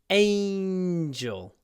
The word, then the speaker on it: angel: Angel. We kind of hold the n. Angel. Angel.